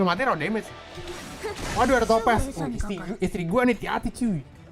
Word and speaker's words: Topaz: Oh udah ada Topaz, bacanya Topaz ya, bukan bisa-bisa tolong ya.